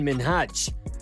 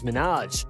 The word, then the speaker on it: Minhaj: saying his name wrong she kept mispronouncing minhaj as minaj and to be honest